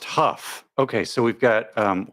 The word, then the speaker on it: Hough: can you do um her last name is pronounced Huff Okay so we've got